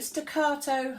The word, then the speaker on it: staccato: doing stack at all you've got to say it like you're in Italian and with lots of passion and hand movements back out door so we're going to do staccato staccato that's the posh